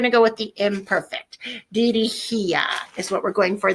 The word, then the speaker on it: dirigía: Dirigía is what we're going for there. Dirigía, accent on the I.